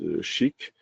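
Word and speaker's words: SCHC: Uh the s that is pronounces shik.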